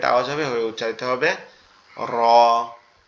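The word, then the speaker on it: ر: আর র এর উচ্চারণটা কোথা থেকে হবে, র এর উচ্চারণ আমাদের জিহ্বার উল্টা পিঠ, মানে এই অংশটা জিহ্বার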